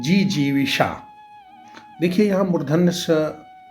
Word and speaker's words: जिजीविषा: शायद को जीने की इच्छा को कहते हैं जीजीविषा देखिए हम उधर नध जो है उसका उच्चारण बहुत महत्वपूर्ण है तो जीने की इच्छा